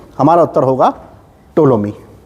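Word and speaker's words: Ptolemy: के दरबार में आया टोलमी इसमें पीस साइलेंट है इसको टोलमी पढ़ते हैं टोलमी किसी के दरबार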